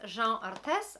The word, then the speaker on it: Jeanne Arthes: So the brand is Jeanne Arthes. I think this is how you should pronounce it-ish. Like, I'm not going to pretend I speak French.